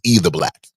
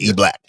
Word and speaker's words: E Black: I thought it was E the Black. It was just E Black.